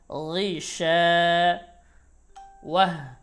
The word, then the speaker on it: غشاوة: গি বলা যাবে না, গি বলা যাবে না, গি, গি অথবা বলা যাবে না, এটা হচ্ছে বাংলা উচ্চারণ, গি হচ্ছে বাংলা উচ্চারণ। আর গইন জের, গি মোটা করে, গি, গি, গি শা,